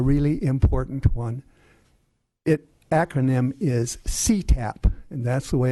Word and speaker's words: CTAP: Acronym is CTAP, and that's the way it's pronounced, the California Telephone Access Program.